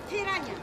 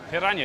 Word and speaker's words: piranha: Piranha. Piranha. Piranha. You roll your R's here.